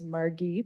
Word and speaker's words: Margie: members my name is Margie it's okay hard G everybody that'ss it wrong um and I am